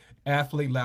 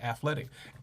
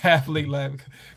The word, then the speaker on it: Athlete Lab: Gotta say it right. Athlete Lab. I want to say athletic. Athlete Lab.